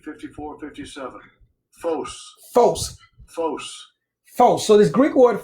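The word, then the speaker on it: φῶς: It's phonetically Foce, but that's not how it's spelled. It's spelled Phos. Now, let's break this down because this is extremely important. G 5457. Phos. Phos. Phos.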